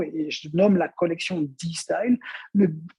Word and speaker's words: D-Style: je nomme la collection d style le le D de la lettre D mais qui en anglais se prononce aussi de comme si vous aviez le style donc de style mais aussi le D